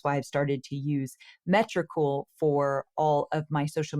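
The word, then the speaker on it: Metricool: we use something called metrical I think that's how you say it it's me t r i c ool and it's for tracking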